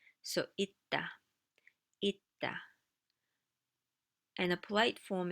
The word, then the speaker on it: 있다: 있다 means to exist, to exist. And once again, that kind of a phonological thing is happening. 있다. And the funny thing is, you don't hear the s sound.